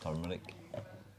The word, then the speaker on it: turmeric: I grew up pronouncing it tumeric. Right. I've heard turmeric. And I've heard Tommy Eric.